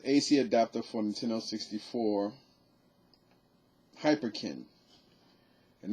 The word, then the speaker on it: Hyperkin: hyperkin and that's actually spelled exactly like is pronounced you know h um h-y-p-e-r-k-i-n so hyperkin uh is